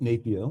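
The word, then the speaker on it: NAPEO: During his tenure as chairman of the National Association of Professional Employer Organizations, I don't know how to pronounce that acronym, NAPIO. NAPO.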